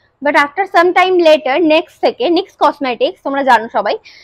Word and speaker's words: NYX: বাট এই সময় আমার কখন ডাউট লেগেছিল, একটা এত বড় নেক্সট কোম্পানি, লস অ্যাঞ্জেলেসের ব্র্যান্ড, এটাই আমাদের এখানকারও ব্র্যান্ড